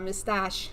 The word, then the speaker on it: Mistage: It is a very, I know, it's kind of like an exotic name of sorts, and Mistage is how you pronounce the last name, which it's hilarious.